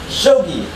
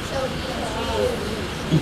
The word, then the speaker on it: Shogi: Shogi.